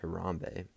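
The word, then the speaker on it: harambee: a word that kenyans use uh and it's pronounced harambe and this this simply means to pull together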